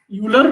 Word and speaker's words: Euler: It is written Euler, but it is pronounced Euler.